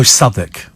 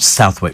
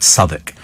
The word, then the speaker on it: Southwick: park up it's what oh saic dear s not Southwick but it's spelled Southwick but saic but you you must